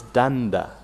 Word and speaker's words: Danda: They say it's Danda. Dada. Well, I reckon there's a second D in there, is there not? No. No? Well, he spelt it. This is D-A-N-D-A.